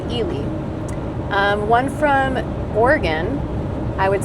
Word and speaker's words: Ely: So the first one, you pronounce it Ely. A lot of out-of-state people call it Eli, but it's called Ely.